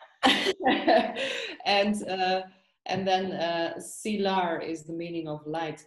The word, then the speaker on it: Silar: say your name right sila or silar yeah it's silar silar yeah yeah and you